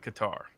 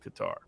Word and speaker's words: Qatar: And what's interesting is how nobody wants to talk about Qatar, or Qatar as it's sometimes pronounced.